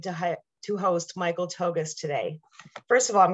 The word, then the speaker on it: Tougias: are so excited to have to host michael togas today first of all i'm going to stop there did you know that the pronunciation of his name is michael togus now i know i had to ask this